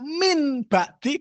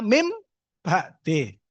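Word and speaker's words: مِنْ بَعْدِ: Nah, berarti ada kenapa kok tiba-tiba bacaan jelas tulisannya min ba'di kok membacanya mim ba'de.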